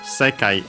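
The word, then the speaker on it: 世界: Then it says Pokétto Monster no Sekai e. And yeah, the usual Pokétto Monster, Pocket Monster, the possessive particle no. Sekai, as we have seen, a Chinese compound accent on the first syllable, this one, means word.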